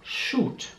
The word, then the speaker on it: shoot: Man sieht, dass das Wort mit Doppel-O geschrieben wird, aber es wird wie ein langes U ausgesprochen. Shoot.